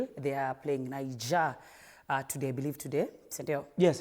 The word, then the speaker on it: Niger: Niger. Hey. That is the pronunciation needs to be on point. Français. moi, je m'appelle Monsieur. Je parle un peu français. So it's pour Niger.